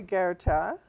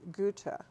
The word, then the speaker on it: Goethe: Well, most people say Goethe. Right. But you pronounce it Goethe. That's right. Which is the correct German pronunciation.